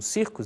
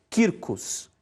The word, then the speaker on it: circus: E a palavra circus, que nós leríamos como circus, né, se diz Quircus.